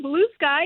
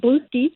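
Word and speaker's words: Bluesky: yeah I'm Blue Sky and by the way I had to tell a friend of mine who is from Brooklyn no it's not pronounced blue ski it's blue sky obviously a Beer Drinker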